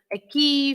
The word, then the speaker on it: aqui: But then when you have an E or an I, then you don't read it as we have seen in quinta-feira, in queijo, the word aqui, for example, right?